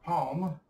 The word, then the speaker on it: palm: For palm, we'll just simply write P-A-M, because the L sound here is understood and rarely pronounced.